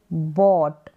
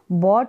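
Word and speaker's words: bought: यह है बी ओ यू जी एच टी बट बट का मतलब होता है खरीदा बी यू वाई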